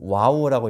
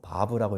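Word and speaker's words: וָו: 뭐 와우라고 읽기도 하고 뭐 바브라고 읽기도 하는데이 6이에이 숫자의 음값은 6이에요.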